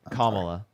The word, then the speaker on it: Kamala: Kamala.